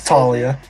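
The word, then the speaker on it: Taulia: It's Talia. Just Talia. Talia? His name is pronounced Talia Tagovailoa.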